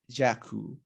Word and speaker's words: дякую: But in Ukrainian it's дякую. Дякую, yeah, it's a little bit different in pronunciation.